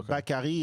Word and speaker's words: Bakari: in France and uh bakari is like there's not 25 ways to say my name yeah you don't have to bark at me like Daiquiri with a B I like saying I